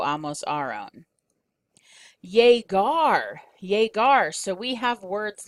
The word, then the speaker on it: llegar: So yegar, it's called a hard G sound because it's a g, g, g sound.